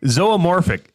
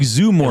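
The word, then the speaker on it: zoomorphic: Zoamorphic. Z O O M O R P H I C. Oh, it's It looks like zumorphic.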